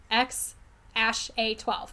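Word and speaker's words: X Æ A-12: that something space sounding he literally says this child's name is pronounced X Ash A2 that is what he said his name is pronounced as all right well he's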